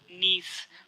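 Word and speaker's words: gneiss: answer है option दी निज friends आपको इंग्लिश में शब्द भी याद रखना है इसकी स्पेलिंग है जी एन ए I double S इसमें जी साइलेंट है यानी निज जो है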